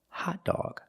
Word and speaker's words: hot dog: So remember, when you see the word hot dog, there are two different pronunciations of the o. First, ah for hot, and then aw for dog, hot dawg.